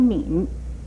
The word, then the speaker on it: 黽: 猛这个字还有另外一种读音是猫吟敏，三声敏，念敏的